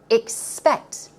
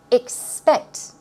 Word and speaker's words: expect: Although it starts with an EX, pronunciation-wise, it's I, expect, expect. It's 2 syllables, expect.